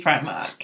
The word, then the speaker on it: Primark: Am I pronouncing it correctly? Yes, it definitely should be Primark. Not Primark? Not Primark, not Primar. No, I can't say it like that.